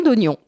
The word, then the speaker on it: oignon: Or, jusqu'au 18e siècle, le I de IGN était muet. On disait gen. D'où la prononciation d'oignon.